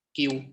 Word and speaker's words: queue: Jadi di sini Mikrotik ya, Mikrotik itu memiliki fitur queue ya. Tulisannya QW ya, yang dapat bacanya queue ya, yang dapat kayak atau antrian ya, atau antrian.